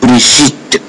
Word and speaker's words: Brigitte: So we have here Brigitte, not Bridget, no. Brigitte. Sound like sh.